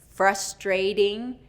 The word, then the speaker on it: frustrating: Native speakers will change that T to a D because it's surrounded by vowels, okay?